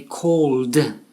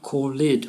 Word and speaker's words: called: So the word call, we say called, one syllable, and not called, which is two syllables and incorrect.